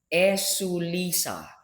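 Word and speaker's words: ἐσύλησα: came from the word esulisa. Esulisa. Esulisa. The spelling is different from the pronunciation. E, e, su, the S double O, li, sa, with an H at the end.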